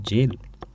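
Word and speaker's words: gaol: वो मैंने अभी गोल बोला गोल ना होकर यह है जेल इसकी प्रोनंसिएशन ही जेल होती है।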